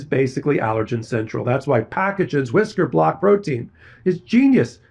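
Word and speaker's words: Pacagen: Thanks to Packagen. This episode is sponsored by Packagen. That's P a ca g-en, pronounced packagen.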